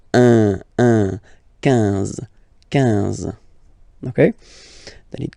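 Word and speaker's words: onze: 11. Okay, so O plus N give you the sound on. 11. 11. Okay, final E doesn't exist phonetically.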